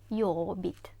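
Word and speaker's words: jobbigt: як клопітно вайобіт вайобіт літеру г не вимовляємо йобіт наступне треба сказати ми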